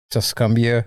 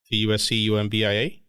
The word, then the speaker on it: Tuscumbia: Tuscumbia, Alabama. Really? What? That's unfortunate. Where? She's from Alabama? Tuscumbia? Tuscumbia? How do you spell it? T-U-S. Exactly how I'm saying it. T-U-S-C-U-M-B-I-A?